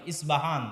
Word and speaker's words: ইস্পাহান: আজও ইরানের মধ্যে ইস্পাহান নামে সেই নগরী আছে। আমরা প উচ্চারণ করি ইস্পাহান, আরবিতে এটা উচ্চারণ হয় না। আরবিতে হয় আল আসবাহানি, বা উচ্চারণ হয় ইসবাহান বা আসবাহানি।